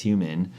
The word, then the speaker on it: HVMN: So a lot of the employees and also community members at Nutrabox, which as was our former name, moving into H.V.M.N, pronounced human, we're really speaking towards all of biohacking, not just nootropics.